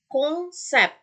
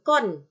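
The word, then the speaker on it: concept: Contoh, konsep, konsep, bukan kon, ya, bukan kon. Oke, n-nya di sini ketemu sama konson c, ya, bukan kon tapi jadi sengau, jadi kong, konsep, konsep, ya.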